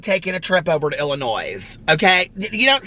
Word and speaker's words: Illinois: just like there's no you don't pronounce the s in illinois okay it's not illinois that drives me crazy okay when people are like oh we're thinking about taking a trip over to illinois okay you don't say